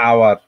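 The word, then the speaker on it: hour: এজন্য এ আসছে তারপরে আওয়ার দেখো উচ্চারণের ক্ষেত্রে দেখো আওয়ার এইচ ও ইউ আর আওয়ার আমরা কিন্তু হাওয়ার বলি না এজন্য কি হয়েছে এন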